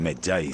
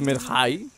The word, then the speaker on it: Medjay: Creo que la pronunciación correcta es Medjay.